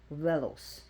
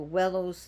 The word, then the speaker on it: Veles: new deity to me you can also pronounce his V with a w wellos so wellos wellos Volos so people try to